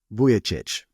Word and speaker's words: Vujicic: with us in this show again that's Nick vichich which is spelled vuj I I typee that in you'll